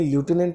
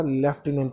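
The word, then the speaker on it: lieutenant: Same question number 13 में देखिए, आपको ये स्पेलिंग ल्यूटिनेंट नज़र आती होगी, लेकिन इसको बोलने में ल्यूटिनेंट नहीं बोला जाता, लेफ्टिनेंट बोला जाता है।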